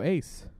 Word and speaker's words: AC: is my alter ego ace ace ace like ace ac ac like hardcore misspell it but it's still called ace like ac like like the ace conditioning ace ace nice because